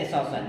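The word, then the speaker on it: assassins: He will send एसासन, हमने इसकी meaning भी लिख दी है, यह ASSASSIANS, इसका उच्चारण है एसासन।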